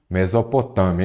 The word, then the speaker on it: Mesopotâmia: Vamos separar em sílaba menos ó Ame não é isso Mesopotâmia então aqui eu já sei que ela é o que é uma paroxítona porque a sílaba forte é a penúltima paroxítona terminada em ditongo